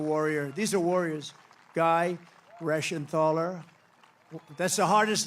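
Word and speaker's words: Reschenthaler: great job real Warrior these are warriors guy rashan thaler that's the hardest name in the Senate to pronounce but I've learned how to pronounce it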